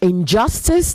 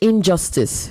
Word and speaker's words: injustice: Di all right um You also say Injustice not Injustice the stress is onjust okay Injustice you say Resolute